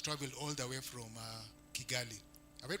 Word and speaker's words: Kigali: And the team that has traveled all the way from Kigali. Have I pronounced it well? Kigali or Chigali? Chigali. Yes.